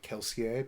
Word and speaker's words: Kelsier: book and uh yeah keler is the man yes I've finally gotten them audience according to uh according to other audio books it's supposed to be like kelsier because it's it's French so um and no